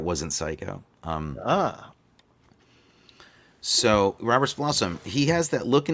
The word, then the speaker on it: Roberts Blossom: know um that bull says jesus i thought robert's blossom was the grandmother in the adams family color